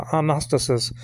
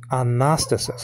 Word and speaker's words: Anastasis: the Anastasis, not agnostic, Anastasis. Anastasis means resurrection, okay? I used to pronounce it Anastasis, and I guess I'm going to go back to that because it doesn't sound like agnostic, you know?